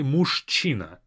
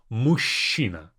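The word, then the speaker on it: мужчина: a man mushina and notice how I pronounce this and CH I don't say musina we don't say it like that we say mushina mush and from this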